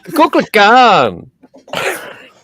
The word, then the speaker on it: Kukulkan: Yeah, it's Scotty, say it right. It's Coco for CuckooCon. Kukulkan.